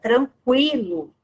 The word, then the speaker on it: tranquilo: Porém, as palavras, né, que apresentam a pronúncia do U, elas continuam, tá? Com a mesma pronúncia. Você só não usa mais o trema, a notação ali em cima da vogal U, tá? Então, é o exemplo que eu dei da palavra linguiça, tranquilo, né? Então, antes essas palavras eram grafadas com trema, não tem mais o trema, mas existe a pronúncia continua, prevalece, tá?